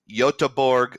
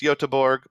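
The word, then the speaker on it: Göteborg: I did where is yotaburg Sweden and I think it's pronounced yotaborg but if I'm wrong I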